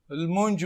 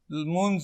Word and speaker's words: لمونځ: فرضاً دو لمونج وایي، یوسفزي لمونځ وایي.